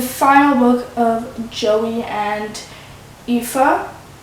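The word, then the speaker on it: Aoife: book of Joey and epha that's how you pronounce her name pretty much and um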